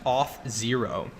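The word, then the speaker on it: Auth0: very powerful stuff here this next company is pronounced off zero now for many website and mobile app developers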